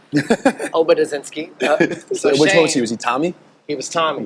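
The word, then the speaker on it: Obedzinski: youngest of US Shane oensi I butchered his name but OB inski which he was he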